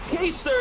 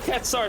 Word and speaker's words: Kaser: Devin bringing the correct pronunciation for the goal scorer right here in chat, saying that it's Kaser instead of Ketsar.